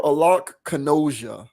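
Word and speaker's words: Alok Kanojia: Alok Kanoja. Hopefully I'm saying that right. Alec or Alok Kanoja, I think is how you would pronounce that.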